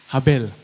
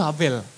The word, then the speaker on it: Havel: Habel. Ya. Jadi nama aslinya itu Havel. Karena hurufnya V, tapi kalau orang Indonesia bacanya kan jadi B. Gitu. Nah, jadi namanya itu Havel sebenarnya.